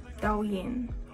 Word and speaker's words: Douyin: don't like that like just pronounce it da Yin we're going to be trying da Yin makeup camera is leaning